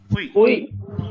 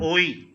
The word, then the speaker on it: oui: Uy. Okay. Pronunciation. Make a note. Uy. It's not oi. It's not oee. It's uy.